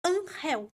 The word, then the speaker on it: Angel: E o meu irmão mais velho se chama Unhel, que se escreve como Angel, mas como se pronunciaria em inglês, mas é unhel que se fala.